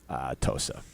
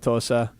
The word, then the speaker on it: Wauwatosa: No, I will be in Tosa. That's what the you guys call it Tosa. You call it Wauwatosa.